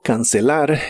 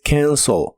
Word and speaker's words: cancel: El verbo cancelar en el presente de inglés es cancel. La a se pronuncia como una combinación de los sonidos e y a. Y la e del final se pronuncia como una o suave, como cancel. Cancel.